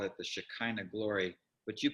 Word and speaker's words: Shekinah: They call it the Shekinah glory, but you pronounce it Shekhinah.